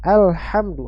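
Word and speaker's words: الحمد: Ya sampaikan baca kata alhamdu pada ayat yang kedua ini dengan huruf ha ya huruf ha alhamdu ha yang keluar dari tengkorokan bagian tengah ya ya Jangan dibaca dengan huruf ha ya alhamdu perhatikan ada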